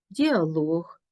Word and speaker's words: діалог: голосний термометр хронометр гідрометр у словах іншомовного походження з компонентом луг цей компонент є наголошеним монолог діалог полілог каталог якщо прикметник